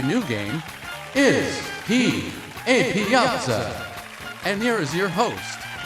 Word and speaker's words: Piazza: How do you say pizza? No, honey, it's Piazza. Piazza.